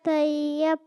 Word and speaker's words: طیب: طیب بولا کریں طیب طیب کر رہے ہوتے ہیں. صحیح تلفظ ہے طیب.